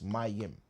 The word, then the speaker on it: mayim: It's pronounced like this. Myim.